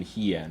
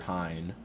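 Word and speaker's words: Hien: It's Yeah, it's one of those things where it's like the only time I actually think I yielded to a correct pronunciation was artisan heen over hine.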